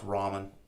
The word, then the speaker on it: ramen: You obviously don't know how to pronounce ramen.